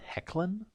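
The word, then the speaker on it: Hoechlin: really like the tyler i think that's supposed to be pronounced hecklin uh man of steel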